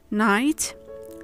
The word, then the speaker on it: night: In all of these words, the GH is muted, so you should read the following words as night, fight, right, Night also, but if